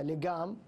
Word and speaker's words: لجام: اللجام كلمة فارسية كانت تنطق بالقاف المعقودة لجام، ولكن العرب عربوها بالجيم وأصبحت يعني جزءا من، بل اشتقوا منها فعلا، ألجم يلجم إلجاما.